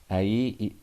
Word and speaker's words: ahí: Ahí, And how do you pronounce the first one?